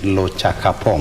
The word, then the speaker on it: Lochakapong: Yeah, maybe if you pronounce my name correctly, it's LOCHAKAPONG. LOCHAKAPONG.